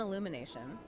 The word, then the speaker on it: Illumination: Nintendo and Illumination, and that's pronounced Illumi, A-Y, by the way, they finally stopped trying to force video games into traditional Hollywood narrative structures.